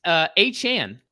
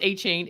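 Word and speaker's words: Achane: It's A-Chan. Oh no. It's not pronounced A-Chain.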